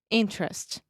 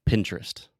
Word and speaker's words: interest: And a lot of times when we have an unstressed syllable in the middle of the word, we just eat that sound and I just say interest, Interest. just like Pinterest, Okay.